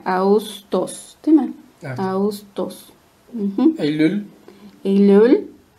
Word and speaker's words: Ağustos: Augustos. No es Augustos. Esta yumusha que no suena. Solamente como que la U se alarga. Augustos.